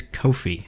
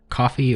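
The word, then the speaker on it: Ko-fi: the pronunciation of it it apparently is kofi and not coffee or kofi kofi i hate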